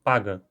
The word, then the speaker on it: paca: palavra paca, que então, como o som de k está entre duas vogais, o a e o a, ele acaba sendo vozeado e pronunciado paga. Mas isso não é obrigatório. Se eu falar paca, é tão certo quanto falar paga.